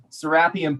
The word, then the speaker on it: Seraphim: decibel the sarah is did you say serapium carl that's the way you pronounce it seraphim polluted waters and as